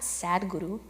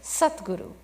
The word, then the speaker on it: Sadguru: Now, it's not Sadguru. It's spelled Sadguru, but it's Satguru.